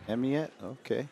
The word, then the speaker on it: Amyotte: Amyotte.